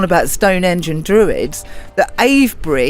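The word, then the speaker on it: Avebury: Stone engine Druids the a BRI you don't pronounce the v in a BRI and I've been calling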